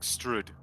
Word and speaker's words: Strahd: No, wait, I think it's like Strud.